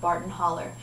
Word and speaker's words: Barton Hollow: have to check out their song Barton Holler. Barton Hollow is how it's spelled.